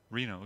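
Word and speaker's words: Rieno: sand of all Reno pronounced like the city it isn't spelled that way RI e n o W now you spell RW Reno junior outfielder from Wheaton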